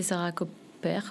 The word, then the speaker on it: Sarah Koper: Euh et mon nom d'artiste c'est Sarah Copers ou Sarah Coper comme on décide de de le prononcer.